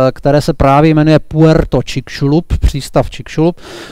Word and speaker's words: Chicxulub: Tady ten památník je ve městě, které se právě jmenuje Puerto Čikšulub, přístav Čikšulub. To slovo, píše se to Chickulub, čte se to čikšulub.